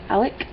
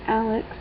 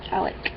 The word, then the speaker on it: Alec: But you got Drew and I guess Alec. That's how you pronounce it. We had a guy at my work named that, and it wasn't Alex, it was Alec.